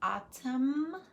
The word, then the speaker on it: autumn: Did you hear silent N in autumn, column, condemn? The N is silent.